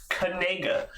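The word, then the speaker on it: Knigga: already decided it is uh but apparently it's pronounced kega yeah it's not no one's going to pronounce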